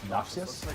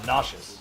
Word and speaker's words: Noxius: as Bravo and uh Noxius I believe. Uh Nasius. Oh, Nash. Excuse me. Although it is spelled Noxius.